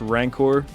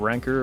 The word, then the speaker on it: Rancor: I just listened back, I'm pretty sure it's pronounced Rancor, not Ranker, or whatever the hell I said.